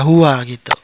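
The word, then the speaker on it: هو: Jadi, ketahuilah sekali dan untuk selamanya bahwa selalu dibaca "hua". Baiklah, selanjutnya ada teks seperti ini, jangan bingung, hanya ada satu cara untuk membacanya, "huma", oke.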